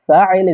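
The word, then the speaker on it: فاعل: And fa'il is how you say doer in Arabic.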